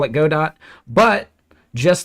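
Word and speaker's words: Godot: good do anyway so this person heard the developer call it God dot that's enough for them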